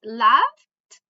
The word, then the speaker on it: laughed: So with the endings with P, S, F, K, sh, and C, and X, we always pronounce ed with t sound, right?